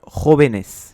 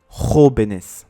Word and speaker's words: jóvenes: Par exemple, le mot joven, au pluriel devient jóvenes. Ainsi, ce dernier devrait être accentué sur le deuxième E. Pour garder l'accentuation du O, on est obligé de mettre un accent sur cette lettre.